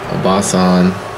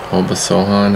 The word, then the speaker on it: Obasohan: Meant to pass that to Obasan. Obasohan, how they pronounce it.